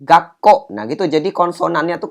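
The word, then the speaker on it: がっこう: Maka cara bacanya berubah menjadi gakko. Ini ya, bunyinya huruf su kecilnya ini membuat huruf yang di sebelahnya itu jadi apa? Bunyi konsonannya itu berganda. Kalau dia bersebelahan dengan huruf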